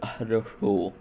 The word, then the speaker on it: Хорошо: This is shown in the word Хорошо. The first О is pronounced as a ə, the second ɐ, and the third oh.